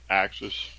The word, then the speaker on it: AXS TV: I think they call it Axis.